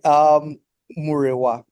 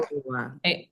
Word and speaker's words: Murewa: If you want to pronounce an accent, it's Murewa. But just Murewa. as long as you pronounce all the vowels, you're good.